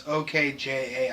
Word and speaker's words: Okja: God, I don't know how to pronounce it, but it's OKJA.